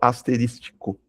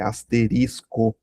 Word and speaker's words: asterisco: Asterisco com alguns falam asterístico, tá errado. É asterisco. Asterisco, não fale errado.